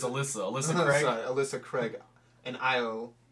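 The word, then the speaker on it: Ailsa Craig: the moment it really doesn't matter we can't pronounce it anyway alite allite ironically found on Alys it's Alysa Alysa Craig sorry Alysa Craig and Isle the airshire who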